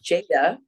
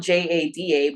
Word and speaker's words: Jada: because my name is Jada oh okay that's my first name and if you it's spelled j-a-d-a but if you just spell jda it still says Jada so that was my